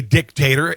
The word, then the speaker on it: dictator: He is a dictator, and with the accent on the first syllable.